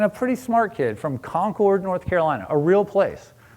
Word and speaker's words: Concord: Then you've got this other kid from Concord, New Hampshire, also a real place, just emphasis on the different syllable.